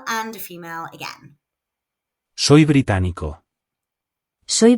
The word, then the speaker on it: británico: To say I am British, we say Soy británico. if male and Soy británica. if female. The stress falls on the syllable with the accent. Británico. Británica.